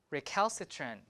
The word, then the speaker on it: recalcitrant: We have recalcitrant. So it's here. This cal, see, it's in the stress position. So cal is stress. Recalcitrant. So aspirated. But T here, unaspirated, right? Because it's an unstressed syllable.